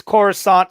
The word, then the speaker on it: Coruscant: it like as it's spelt but then i spell it right that's yeah it's it's coruscant so i'm gonna have to say jake misses